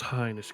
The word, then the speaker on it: heinous: The clippings range from the smallest dispute to the most heinous crime in the Heinous. city. Anus. It crimes. rhymes with anus.